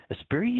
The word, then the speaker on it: Esprit: Esprit, is that right?